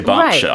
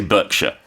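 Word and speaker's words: Berkshire: Well, that's that's that's why I chose to say Bshire. I think in America they'll say Burkshire.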